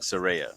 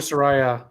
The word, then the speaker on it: Saraya: had a feeling I was saying it wrong Siria okay I got that they were calling her Soraya all Wednesday night so on dining they butcher